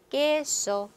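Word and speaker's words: queso: 자, 꾸는 깨소, 데킬라. 그래서 깨, 끼. 자, 이렇게 딱 두 개 발음이 있다는 거 꾸에꾸이 하시면 안 되는 거죠.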